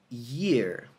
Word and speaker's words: year: Acredite ou não, a pronúncia dessa palavra e essa palavra não é a mesma. Essa aqui é ear. Ear. E essa aqui é year. Year. Tem tipo uma espécie de vibração que você faz com a...